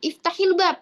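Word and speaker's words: افتح الباب: Nah, ketika seperti ini, pelafalannya itu dikasroh. Kenapa? Dengan tujuan memudahkan pelafalan. Iftahil bab, iftahil bab.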